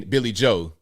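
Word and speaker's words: Billie Joe: Since I've been a teenager, I call him Billy Joel with an L, but it's just Billy Joe.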